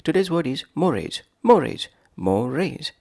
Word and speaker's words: mores: word is morage morage morise two syllables morise is a noun